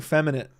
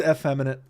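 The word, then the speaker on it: effeminate: Well, I was saying feminite. Real cucky feminine vibes. But maybe I was using wrong. Damn, it is eff feminite. Damn, I've been saying it wrong.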